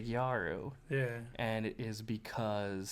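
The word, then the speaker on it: ギャル: It started off as, and just the way they pronounce, because they don't have L's in Japanese, it would be gyaru.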